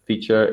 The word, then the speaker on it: Phiture: We pronounce it Phiture, even though we spell it P-H-I-T-U-R-E, just to mess with people.